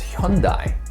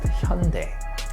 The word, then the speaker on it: Hyundai: in your head hey i thought it was hyundai nope it's pronounced hyundai hated and underrated in some countries love then